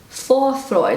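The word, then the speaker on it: Vorfreude: and this word is for freude so that's how i pronounce it for freud and google pronounces it fourth freude this is like also a pronunciation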